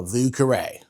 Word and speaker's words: Vieux Carré: It's one of my favorite cocktails, even though no one ever pronounces it right. Let's make a vuare.